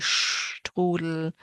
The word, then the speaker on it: Strudel: The PF sound Apfel, and then the ST that sounds like SHT, Strudel.